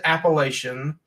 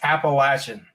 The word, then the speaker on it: Appalachian: Mountain Brewery it's cool you don't say Appalachian like those news people doing it's Appalachian yes it's not appellation it's not the Appalachian Trail Appalachian if you're North Carolina that's how you say it Tennessee Virginia Georgia you